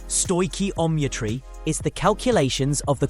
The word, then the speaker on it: stoichiometry: Stoometry pronounced stoi omitry is the calculations of the quantities of reactants and products.